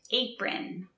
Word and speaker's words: apron: my apron on notice apron is spelled with an O but is pronounced apron next we have a